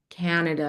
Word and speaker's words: Canada: So in that case, I would just tell you to open your mouth a little bit more on the first syllable, Canada, Canada. because you're right. It's yeah, it's low. It's a lower vowel, Canada.